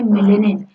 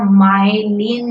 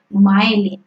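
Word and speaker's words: myelin: तो ऑड वन आउट है neuron में मिलेनिन। न्यूरॉन में क्या होता है बेटा? माइलिन होता है, माइलिन।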